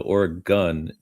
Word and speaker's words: Oregon: Let me say the name of the state correctly. Oregon. I think I got blasted for saying Oregon the wrong way. So Oregon is, I believe, the correct way of pronouncing the state.